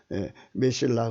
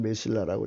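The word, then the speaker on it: מסילה: 메실라 근데 흑자 발음 안 하고요. 그냥 메실라라고 이제 메실라. 여기 발음도 메실라라고 그래요.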